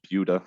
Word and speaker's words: Buda: based in buda texas it's pronounced buda not buddha which is just outside